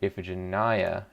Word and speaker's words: Iphigenia: last time oh come on iphigenia oh wait iphigenia is how it's pronounced apparently we just looked it up ethic